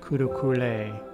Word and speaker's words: Kurukulle: is chanting her mantra kurukule in the mantra is pronounced kurukule in her name it's pronounced kulukula 108 repetitions of kudukula's